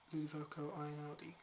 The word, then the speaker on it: Ludovico Einaudi: Have you heard of Ludovico Einaudi? I think I'm pronouncing that right.